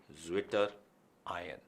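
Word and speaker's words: Zwitterion: बात होती है तो एक जर्मन वर्ड है स्विशन, ठीक है। अब स्विशन से बना है स्विशर। अब स्विशर की अगर स्पेलिंग बोली जाए तो इट इज स्विशर, जिसे अगर अंग्रेजी के हिसाब से बोला जाए तो इट बिकम्स ज्विटर। तो this is what we term as ज्विटर आयन।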